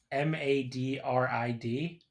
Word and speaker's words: Madrid: To be fair, this is a state that has a uh town spelled M A D R I D. How would you pronounce that? M A D R I D. Yes. Isn't that just Madrid? See, you would think that, but it's called Madrid in Iowa. That's how the locals pronounce it.